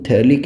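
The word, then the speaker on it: phthalic: तो ये benzene 1,2-डाईकार्बोक्सिलिक acid जो है, इसका कॉमन नेम थैलिक एसिड होता है, ये pH यहाँ पर साइलेंट है।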